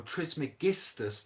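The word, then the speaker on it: Trismegistus: guestus tris mcguestus or tris megistas to say it properly it's not it's not guessed it is tris meg dos means thrice blessed all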